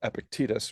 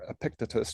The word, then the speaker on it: Epictetus: The encouragement in the three disciplines of Stoic philosophy, which actually comes from Marcus's favorite Stoic teacher, Epictetus, or Epictetus, depending on how you like to pronounce it.